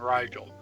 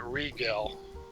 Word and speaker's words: Rigel: aldebaran altair antares and rigel okay although although the sheik pronounced it regal and now kathy